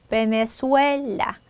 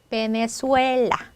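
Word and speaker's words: Venezuela: 있어요 그럴 때 어때요 강한 거에 힘 해서 베네수엘라 베네수엘라 자 이렇게 해 주시면 되겠죠 자 몸 찾아볼게요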